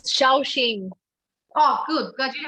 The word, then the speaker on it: Shaoxing: There is a soxing. I don't know if I said that right. I actually didn't have any. Sorry. It's Shaoxing.